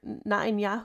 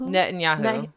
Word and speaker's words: Netanyahu: Nanyahu. Netanyahu.